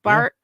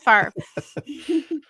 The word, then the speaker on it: Favre: is that possible when Bart yeah okay yeah not Bart um Favre was not bar not star but far I like I like